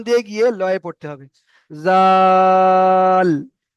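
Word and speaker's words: ذال: উপরে নোক্তা রয়েছে তো এই অক্ষরটার নাম হলো জাল। ওই একই রকম সিস্টেম শেষে টান দেওয়া যাবে না। এর বিষেখানে টান করতে হবে। জাল টান দিয়ে গিয়ে লয়ে পড়তে হবে। জাল তো এখানে তিন আলিফ পরিমাণ টান হবে।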